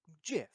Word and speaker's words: GIF: The acronym GIF is pronounced GIF. So like peanut butter. there is The inventor of the format says it is GIF.